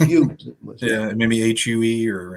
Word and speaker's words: Hugh: It's a name, Hugh, not the huge. Just Hugh.